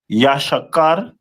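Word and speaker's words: יששכר: And their name is pronounced in the Hebrew as Yashakar, which means he is hired, which is very accurate.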